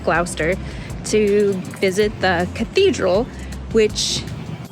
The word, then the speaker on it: Gloucester: it looks like it says Glouchester but it's pronounced glower to visit the cathedral which part of Harry